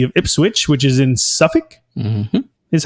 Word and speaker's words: Suffolk: They were founded in October 16th, 1878, and Ipswich Town is in the city of Ipswich, which is in Suffolk.